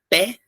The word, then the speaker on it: pé: aberto, o três, ó, a palavra pé, que é aberto, ou a palavra crê, ele lê, né? Lê, crê, som fechado. Café, fé, pé, som aberto.